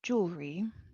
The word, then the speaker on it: jewelry: And then jewelry, this E is not pronounced.